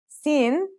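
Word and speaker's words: سين: Those are seen and seen. Let's start with seen. Scene sounds just like the English s. It's very easy to pronounce.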